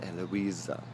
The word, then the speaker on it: Eloisa: You're able to correct me and say it's Eloisa. It is pronounced Eloisa.